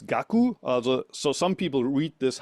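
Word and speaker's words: 覚: And kaku, in the end, pronounced here as gaku.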